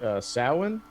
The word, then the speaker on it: Samhain: I also am a big fan of this because it's Samhain right now, so I'm into it. So, oh yeah. I forget that's not pronounced the way that it looks.